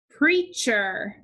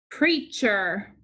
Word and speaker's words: preacher: The root word is preach. So we have digraph EA to underline. The E is making the sound. The A is silent. We also have digraph CH. Preacher. Preacher.